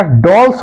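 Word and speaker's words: Dales: ठीक, डोल्स या डेल्स भी इसको कोई कोई कहीं कहीं उच्चारण किया जाता है, तो डोल्स या डेल्स।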